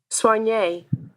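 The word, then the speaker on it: soigné: SOI G and E and how do you pronounce it Swan yay Swan yay dressed very elegantly well-groomed that's not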